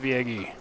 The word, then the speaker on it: Yagy: I almost said it wrong, but I said it right at the end. Dave Yagy, confirmed by Dave Yagy himself.